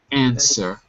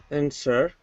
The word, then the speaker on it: answer: name oh and also answer with a silent uh W answer answer okay very good very good